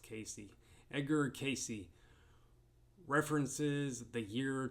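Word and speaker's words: Cayce: 2025 and 2026 Edgar I think it's pronounced Casey Edgar Casey references the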